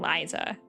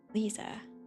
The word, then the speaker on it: Lisa: I keep saying Liza, and I know that it's wrong. Lisa, obviously.